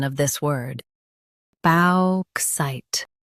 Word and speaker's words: bauxite: bauxite Now read the syllables shown on the screen naturally. balk site bauxite Stress balk and keep site clear.